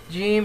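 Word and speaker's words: جيم: is the letter gim Jim should be pronounced like the J in the word in the English word judge in Arabic slang it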